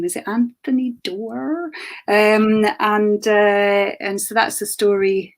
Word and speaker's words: Anthony Doerr: Is it Anthony Doerr? And so that's the story of the Second World War. Yeah, that's it. There we go. Anthony Doerr.